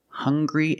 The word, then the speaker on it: hungry: have these two words hungry and hunger they also make the same sound with the nasal sound and the hard G hunger hungry remember the difference hungry